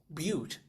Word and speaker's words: Butte: I better look this up because but Montana is pronounced but like beautiful.